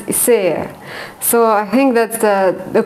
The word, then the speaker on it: Isager: Isager, I think that's the Danish way of pronouncing it.